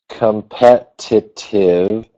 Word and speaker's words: competitive: You say my company needs a new strategy to be competitive with other companies. Yeah, that's good. Just be careful when you pronounce it. Competitive. Don't forget the V sound at the end.